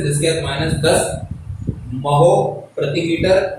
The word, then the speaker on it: mho: ये जो ये है, इसको मैं 2 बार महो बोला। क्यों बोला? इसका कारण देखें आप। इसकी स्पेलिंग, ओम की स्पेलिंग थी OHM। जब इनवर्स लग जाता है तो उसी को उल्टा कर देंगे, MHO, तो वो क्या हो जाएगा? महो।